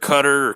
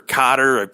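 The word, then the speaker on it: Koetter: with a second-year coach Dirk cutter Cotter I've always mispronounced his name I think it's Dirk cutter but he was the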